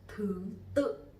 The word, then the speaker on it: thứ tự: We also have a similar word, which is thứ tự. Thứ tự. So you will see that here we have a dot, which is the dấu nặng. Dấu nặng. So when you put the dot there, it'll be the order. It means order. The order.